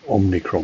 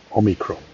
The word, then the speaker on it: omicron: travel with this new omnicron variant on the on omicron gotta get the pronunciation right omicron that should that would